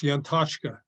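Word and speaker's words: Yantachka: Yes, Yantashka.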